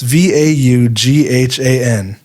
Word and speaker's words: Vaughan: I should have not known how to pronounce this. It's Vaughan.